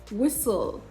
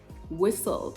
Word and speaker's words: whistle: the t appears in the middle but it is silent and then you have it in bristle bristle hustle hustle not austo hustle whistle whistle no whistle mortgage mortgage no more gauge right